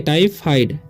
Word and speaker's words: typhoid: ठीक है, अब देखिए यहाँ पर लिखा हुआ है TYPHOID, तो यहाँ पर वाई का उच्चारण क्या हो जाएगा आय हो जाएगा।